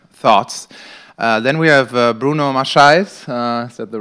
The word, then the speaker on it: Maçães: Then we have Bruno Maçães, is that the right pronunciation?